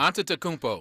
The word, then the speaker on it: Antetokounmpo: Before Giannis, I can never pronounce his last name correctly. Antetokounmpo.